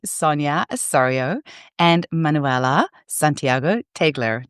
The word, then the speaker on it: Teigeler: Osorio and Manuela Santiago Teigeler. Did I say it right this time? Teigeler. Tiger. You even, Sonia even said like tiger, and I said still went Teigeler.